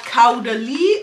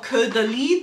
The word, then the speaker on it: Caudalie: And I came across these new products from Caudalie or Caudalie, depending on which country you are in. It's how it is pronounced.